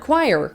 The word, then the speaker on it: choir: Just hear the word choir. Okay, you break it up. Who I er. So you come to the logical conclusion that it's spelled like this, choir. And then you find out how it's actually spelled and it's spelled like this. Mm, no, that's chower. Cho-er. That's not choir. Stop trying to gaslight me into thinking that these are the same words because they're definitely not.